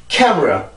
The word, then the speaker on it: camera: 이게 들어가든 들어가지 않든 발음은 똑같아집니다. 아시겠죠? 자, 다시 한번 해볼게요. camera, camera, camera.